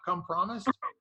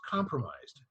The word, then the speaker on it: compromised: And he says, "It's not come promised." Well, you know, it's oftentimes pronounced compromised, you know?